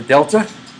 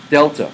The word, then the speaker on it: delta: The delta? That a triangle, that's a good question. A triangle is strangely enough, is a letter in the Greek alphabet, and it's called delta. That's how you pronounce it.